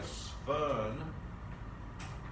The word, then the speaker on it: Swern: And a Swern oxidation, we're going to start having lots of Germanic names with W sounds that are pronounced as V's.